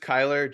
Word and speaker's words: Kylar: Yeah, it's just Kyler, just Kyler, like okay, Tyler, just like awesome. every other name.